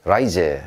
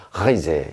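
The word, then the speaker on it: Reise: 하이제. 얘는요, 여행이라는 뜻입니다. 에어로 시작했죠. 근데 여러분, 이 경우는요, 그냥 편하게 라이제 이렇게 말하기도 합니다, 어떤 사람들. 하지만 정석은요, 어디까지나 하이제 이렇게 해주셔야죠.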